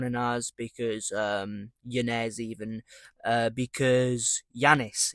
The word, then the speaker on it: Yanez: But on a real I am going to go with John Anel because Yanez even because Yanez it's John Yanez.